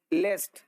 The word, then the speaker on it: least: इसको लिस्ट नहीं पढ़ते हैं, लिस्ट। लिस्ट का स्पेलिंग होता है LEAST।